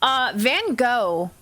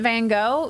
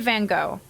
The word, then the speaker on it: Van Gogh: Van Gogh. Like Vincent Van Gogh. You do not say it Van Gogh. There's actually multiple pronunciations I've heard. I believe Van Gogh is more the American pronunciation.